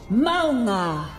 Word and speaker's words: Mauga: Echo pronounces the proper way to say Mauga and Alari when she duplicates. Adaptive circuits engaged. Mauga.